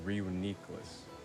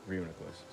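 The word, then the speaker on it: Reuniclus: was kind of close my first pronunciation was uniqueless but it was actually real nicholas i thought was like a runicles or something drew i was lost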